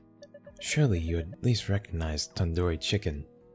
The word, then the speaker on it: tandoori: you at least recognize tandoori chicken you're saying it wrong wait really 10 tandoori Oh and URI do isn't like Endor it's like doodoo head are you five years